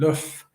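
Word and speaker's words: l'œuf: Love is derived from the English pronunciation of the French word luff which means egg because an egg might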